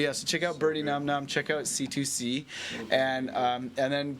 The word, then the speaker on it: Nam Nam: It's pronounced Num Num because it's from like an old Peter Sellers movie, The Party.